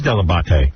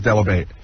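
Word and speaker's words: Dell'Abate: My parents My mother still says debate. My father still says Delabate. Oh, really? You say Delabate? Because a that's a proper pronunciation.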